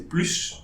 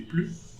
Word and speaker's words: plus: Then plus, so the S for plus, we don't pronounce, so we don't say plus, but we say plus.